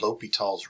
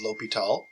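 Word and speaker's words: L'Hôpital: But as far as I know, it's pronounced L'Hopital. I've also heard L'Hopital.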